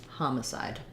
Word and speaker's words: homicide: did a mix here so it's ha side and in the ipa and for how to think about it think about ha ma side homicide um great um and